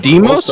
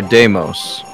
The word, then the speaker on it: Deimos: Is it Deimos or Deimos? Both are correct. Pronunciation is both. Different. Yeah. Different pronunciations, but it's the same god. Ah. Like, in God of War, Ghost of Sparta, they pronounce it Deimos, but in a lot of other places I've heard it pronounced Deimos.